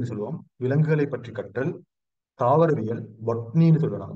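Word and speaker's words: botany: தாவரவியல், பொட்னின்னு சொல்லுவாங்க. பொட்டனின்னு சொல்லுவாங்க. தெரியாதுல, அந்த ப்ரொனவுன்சியேஷன் வார வந்து பொட்டனி தான் வார. ஆனா நாங்க ப்ரொனவுன்ஸ் பண்ணக்குள்ள சரியா ப்ரொனவுன்ஸ் பண்ணணும்னா பொட்னி. பொட்னி அப்படி சொன்னா சரியா.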